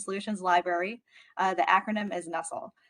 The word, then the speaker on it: NUCSL: use case and solutions library the acronym is nussel pronounced somewhat like nussle and so a nestle is